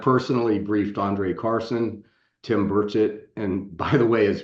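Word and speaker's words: Burchett: briefed Andre Carson Tim burett and by the way as pronunciation of his name he made me promise to to set this straight every time it's Tim burett not burett uh so I just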